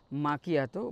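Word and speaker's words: macchiato: আর মাকিয়াটো দেখেছি, মাকিয়াটো বা অনেকে যারা বিদেশে সৌদি থাকে তারা আবার এটাকে মিকাতো বলে, বাট অ্যাকচুয়াল প্রোনাউন্সিয়েশন মানে ইটালিয়ান ল্যাঙ্গুয়েজ হচ্ছে আপনার মাকিয়াটো বা ক্যাফে মাকিয়াটো, এটা চলে।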